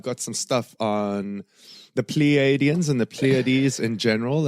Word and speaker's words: Pleiadians: Pleiadians. So like a plie in ballet with the DNs at the end.